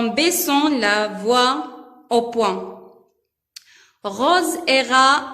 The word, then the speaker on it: Rose: R devant O se prononce RO. SE se prononce ZE. Parce qu'il S entre deux voyelles se prononce Z.